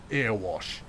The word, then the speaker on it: Erewash: How everybody else pronounces it is wrong. Erewash.